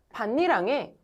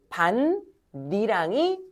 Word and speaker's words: 밭이랑: 반니랑에 옥수수를 심어보자. 이게 표준 발음이에요. 반니랑이 표준 발음입니다.